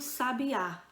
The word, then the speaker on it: sabiá: né seja vive um sabiá sabiá um pássaro um substantivo veja que o acento agudo ele tá caindo na última sílaba né não aqui é